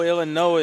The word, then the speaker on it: Illinois: coming in from Chicago Illinois is or even OE rather the S is silent I don't know people